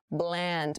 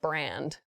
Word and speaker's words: bland: Bland, make the L sound very clearly, not brand, bland.